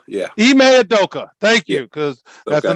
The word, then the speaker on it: Ime Udoka: Shaq, did I pronounce that correctly, sir? Ime Udoka, yeah. Ime Udoka, thank you, because that's a Nigerian name, and we love and respect that.